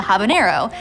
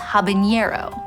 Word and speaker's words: habanero: Its spicier cousin, the habanero, is spelled with an N. Yet, you'll occasionally hear it mispronounced habanero.